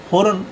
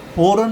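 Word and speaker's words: foreign: अब है अगर किसी वर्ड में जी के तुरंत बाद एन आए तो जी साइलेंट रहेगा। जैसे इसके बीच में आप देखो इसको एफ ओ आर ई आई जी एन जी के बाद जी के बाद फौरन एन आ गया तो यहां पर जी साइलेंट रहेगा और इसको हम फॉरेन नहीं बोलेंगे इसको हम बोलेंगे फॉरेन फॉरेन माना विदेश अब इसी प्रकार इसको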